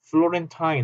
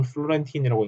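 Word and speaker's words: Florentine: 플로렌타인 혹은 플로렌틴이라고 읽는 사람도 있고 플로렌타인.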